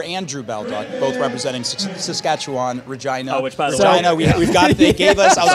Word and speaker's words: Regina: city that live in which is regina which rhymes with something else that is fun uh